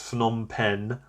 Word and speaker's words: Phnom Penh: I can never pronounce this one, but I think it's Phnom Penh.